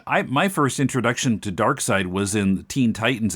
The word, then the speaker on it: Darkseid: how to pronounce it we were calling him dark seed yeah it was much more recently that i learned that it was supposed to be darkseid and you know that's